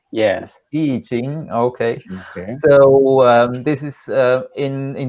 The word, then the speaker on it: I Ching: I probably didn't pronounce it. In Chinese, it's I Ching. Yes. I Ching.